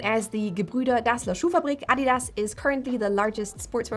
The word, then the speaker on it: Adidas: Rudolfph Adidas often gets mispronounced as Adidas but it's actually Adidas so the emphasis is at the A and Not.